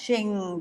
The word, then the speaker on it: Qing: Anyway, I will take you now to a or it should be pronounced Qing dynasty.